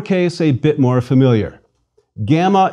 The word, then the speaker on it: gamma: a bit more familiar gamma is always pronounced hard G as in girl never J as in gymnasium please repeat gamma G